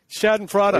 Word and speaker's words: Schadenfreude: And if I drop in Schadenfreude, people, whatever it is, what is it? Schadenfreude.